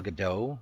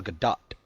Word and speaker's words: Gadot: It's not Gal Gadot like Gal French. Gadot. It's Gal Gadot with the T. You say the T.